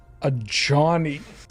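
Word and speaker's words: Ajani: until now oh yeah it's pronounced a johnny a johnny why must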